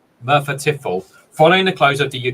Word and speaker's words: Merthyr Tydfil: Martha Tiffel. I wondered. I thought I'd heard of it. Merthyr Tydfil, did I say it right? Yeah, Merthyr Tydfil, following the close of the UK's last opencast coal mine.